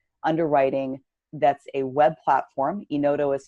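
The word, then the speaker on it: Enodo: in the big fan of a product called Ino dough it's automated underwriting that's a web platform in odo is spelled en oh do we have partnered with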